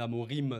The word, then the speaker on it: Amorim: normalement plus avec Ruben Amorin c'est ça le nom voilà j'avais peur d'avoir écorché son nom mais Ruben Amorim normalement on prononce comme ça le nouveau coach de